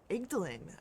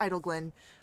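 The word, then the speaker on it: Idyllglen: Avernus, and back into, Igdalin, or Idleglen, that's what it is, sorry, I mispronounced that, again, too high. So we're going back to Idleglen, but before we do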